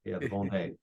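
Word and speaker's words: Vendée: how do you pronounce that vde I always pronounced it the vendi yeah d and d e with an accent another e v day yeah and uh and there maybe 100,000 people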